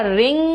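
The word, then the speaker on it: wring: है ध्यान से देखना रिंग रंग रंग है लेकिन यहां पे डब्लू साइलेंट है रिंग रंग रंग है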